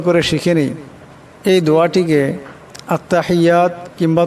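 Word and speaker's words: التحيات: আত্তাহিয়াতু, আত্তাহিয়াতু, এখানে বড় হা আছে, আওয়াজটা গলা থেকে আনতে হবে। আত্তাহিয়াতু লিল্লাহি, এখানে আল্লাহ লামের ডানে জের আসছে, আল্লাহ লামকে পাতলা আওয়াজে পড়তে হবে। আত্তাহিয়াতু লিল্লাহি ওয়াসসালাওয়াতু ওয়াত-তাইয়্যিবাত, ওয়াসসালাওয়াতু,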